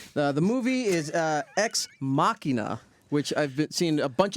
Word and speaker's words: Ex Machina: The movie is Ex Machina, which I've seen a bunch of different reviews and reports, and everyone says it differently. So the official pronunciation is Ex Machina.